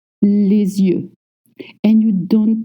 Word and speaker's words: les yeux: Les yeux.